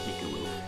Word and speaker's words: Miku: I think I pronounced your name in the beginning, Miku. It's Miku.